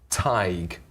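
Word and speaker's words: Tadhg: And how do you pronounce tig?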